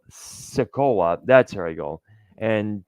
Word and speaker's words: Sikoa: Randy Orton and Kevin Owens versus Silka, what's it called? Sikoa. That's here I go. And Tama Tonga. My bad for mispronouncing his name.